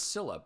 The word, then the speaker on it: Scylla: Like, I know it's Scylla, but so many characters have pronounced it Skilla that I pronounce it that way, not knowing what's canonical in the game.